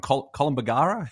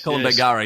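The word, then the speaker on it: Kolombangara: um the island um I always get the name wrong colum bagara is it col bangara yes col bangara yes I've been there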